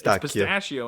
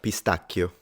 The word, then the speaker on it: pistacchio: I mean, it's pistachio in American, but I think it's pistacchio or something. And he said it right. Pistacchio.